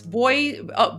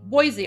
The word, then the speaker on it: Boise: Um, and then of course, Voy Boise. Boise. I remembered. I remembered cuz I mispronounced it yesterday, but then you guys taught me.